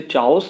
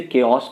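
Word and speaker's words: chaos: द ओस and confusion ध्यान रखिएगा इसे चाउस नहीं पढ़ेंगे इसे केस पढ़ेंगे प्रोनाउंस इसका और केस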